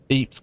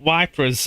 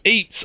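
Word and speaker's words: Ypres: Wait, you actually pronounced Eeps correctly. Who are you? Or what have you done with Hey, I had three playthroughs of me saying wipers or wipers or whatever. Right, it's Eeps.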